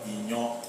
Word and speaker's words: iyan: EBA, you know, and inyo. Inyo is spelled IYAN.